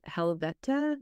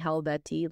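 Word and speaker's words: Helvete: don't know how it it's pronounced like helveta like helveta but I was saying helvetti like a backwoods [ __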